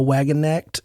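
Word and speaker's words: Wagenknecht: I don't feel like I have any room to really correct on any names, but I believe Noah Wagon-Necht is the correct pronunciation.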